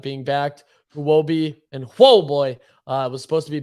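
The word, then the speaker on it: Huobi: exchanges and uh so I think it's pronounced whoa boy yeah whoa boy uh also potentially being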